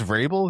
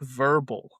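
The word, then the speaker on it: Vrabel: Big she mispronounced Verbel. Is that what she did? Yeah. She called him Mike Verbal.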